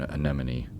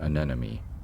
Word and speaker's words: anemone: easier to say than anemone I have trouble pronouncing it it's anemone not an enemy the scientific name thalic